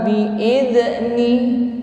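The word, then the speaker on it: بإذن: Hati-hati jangan sampai dipantulkan. Fiha bi'idzni. Ya, biasanya ini salah dipantulkan membacanya. Jadi za, zi, zu, bal. Ya, ketika disukun zal, bal, ini tidak boleh memantul.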